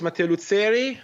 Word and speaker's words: Matteo Luzzeri: Okay, so my name is Matteo Luzzeri.